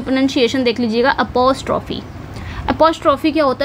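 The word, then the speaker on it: apostrophe: एपॉस्ट्रोफी।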